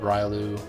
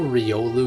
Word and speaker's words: Riolu: gonna run around with ryalu she's only a railu I always I grew up calling it Riolu but like I know Riolu is technically I think how it's pronounced but then again I